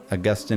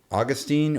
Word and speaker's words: Augustine: God by the way there's a debate should it be Austine or Augustine it doesn't really matter by the way uh Augustine's more the Latin pronunciation but most of you